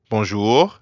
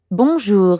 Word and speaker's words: bonjour: In fact, the N isn't really pronounced at all.